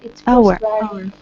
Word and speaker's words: hour: It's Hour. Hour. H is not pronounced hour.